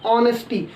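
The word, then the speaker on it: honesty: ऑनेस्टी। और ऑनेस्टी के according यदि हम प्रोनाउंसिएशन देखें स्वर का हिंदी में, तो यहाँ पर इसके आगे हमारा क्या लग जाएगा?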